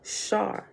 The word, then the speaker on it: SAR: heaven, or divine time, called a SAR, pronounced Shar.